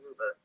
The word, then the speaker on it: Whova: do to prepare is download the Hoova app, and it's spelled WHOVA.